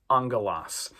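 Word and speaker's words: ἄγγελος: And the smooth breathing mark we're not going to pronounce. Okay? Vowels, words that start with vowels will have that smooth breathing mark over them. A lot of them will uh but we're not going to pronounce it. We just pronounce this angalos.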